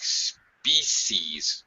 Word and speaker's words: species: you have a unique species or you said spe I think in many languages this is a one syllable word in English it's two syllables species species species okay yeah all right